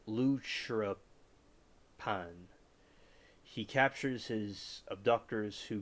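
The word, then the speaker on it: lúchorpán: Well, they pronounce it Luchrapan.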